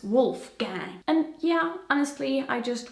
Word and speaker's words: Wolfgang: Pronounced with an American accent, it's Wolfgang.